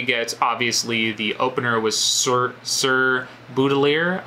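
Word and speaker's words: Sir Baudelaire: First of all, we get obviously the opener was Sir Boudelier, I believe is how you pronounce it, Sir Boudelier.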